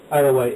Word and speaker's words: Isle of Wight: How do you pronounce it? Isle of Wight? Isle of Wight, yeah.